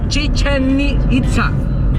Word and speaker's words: Chichén Itzá: a buscar el tesoro de los mayas de chichén itzá así se pronuncia sin chistar amarilla vaca y que tal